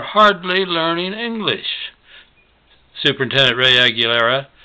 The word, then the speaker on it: Aguilera: Aguilar, is probably a more correct pronunciation, is the number of students who are hardly learning English. Superintendent Ray Aguilera said we have more than 50% in that category.